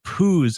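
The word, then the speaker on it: Poh's: They lost an O, so it's Pooh's, but it's Pooh's. It's pronounced Pooh's, but you're right, because it was, legalities.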